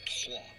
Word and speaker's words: Troyes: There's no way that's how that's pronounced. In French, it is pronounced Troyes.